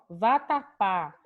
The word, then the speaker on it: vatapá: Então, ó, vatapá. A gente tem 3 sílabas. Por isso eu pude fazer a classificação, sabendo que o pá é a última sílaba da palavra, dizendo que ela é oxítona.